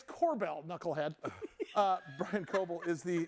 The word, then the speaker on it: Kobel: Brian, it's Kobel, knucklehead.